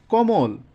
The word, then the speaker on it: কমল: মতো হবে, যেমন মধ্য কমল, এখানে এটা হচ্ছে মধ্য অ, এর আগে আবার কি আছে, অ আছে, এজন্য কেমন হয়ে গেছে, কমল, কমল, অর্থাৎ উচ্চারণ হবে কোমল।